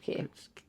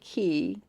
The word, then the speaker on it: Cay: They call it Cay even though it's spelled c a y, so us Americans call it Cay, but it's really called Cay. All right, just like Quay in Ireland Cay.